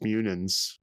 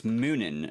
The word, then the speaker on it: Munin: gruggles yeah called expect munins david is going to be the front man i i do believe it's moonin not munin it's moomin well that